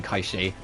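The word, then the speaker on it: Cait Sith: origin of the word I will be saying kaii cuz that's how it is there's very few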